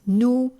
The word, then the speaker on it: nous: Notice also that the S on the end of nous, as well as the S on the end of vous, il, and elle, is silent because it is the final consonant on the end of a word.